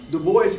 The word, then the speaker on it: Du Bois: And just for clarification, people say Du Bois. Du Bois actually said his name was Du Bois, pronounced like that.